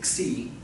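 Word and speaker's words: xi: name of that one c yeah when you anglicize it i guess you spell it x i but you say c c is real fun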